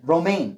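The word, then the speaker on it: Romijn: I'm sorry, I don't know how to pronounce Romaine. it. Romaine.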